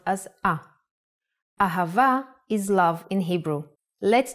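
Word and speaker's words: אהבה: sound like both ha and a the word ahava uses it in both ways when hey appears in the end of the word it will always sound as a ahava is love in hebrew let's try to write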